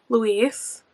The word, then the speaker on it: Luis: I found out that you do pronounce the main character's name Luis.